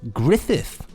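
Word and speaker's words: Gruffudd: said gruffad is pronounced griffith griffith yes it's just griffith yeah it's just the welsh spelling of that johan his first name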